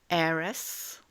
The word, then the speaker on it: heiress: Par exemple, hour et ses dérivés hourly, hour, l'heure, hourly, hour. Autre exemple où la lettre H ne se prononce pas, heir, heiress, donc heir, un héritier, heiress, une héritière.